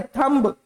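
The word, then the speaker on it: thumb: अब यहां है थंब। टी एच यू एम बी थंब बोलते हैं अपन पर वैसा नहीं बोलना हमने बोला थंब एम तक खत्म बी को भूल जाओ थंब ठीक है पहले वो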